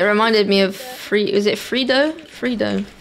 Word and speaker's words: freddo: Espresso freddo. Oh, okay. It's Italian. All right. She says it in Italian like I was thinking it reminded me of is it Frido?